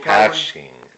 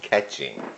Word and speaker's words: caching: We'll caching, not catching.